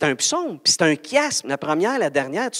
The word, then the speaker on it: chiasme: Ça s'écrit chiasme, mais ça se dit chiasme.